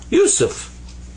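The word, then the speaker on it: يوسف: So it's pronounced you, you. And then sa, there's the 3 dots, the 3 stems that are up here like this, without dots, actually. So that's sa, pronounced like a S. And this is fa. This comes up to be Yusuf. Yusuf. And that's my name. That's how you write Yusuf in Arabic.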